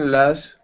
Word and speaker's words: last: They wouldn't be picking him last anymore. Okay, very nice job. Let's go to the word last. Pronounce that T for me at the end.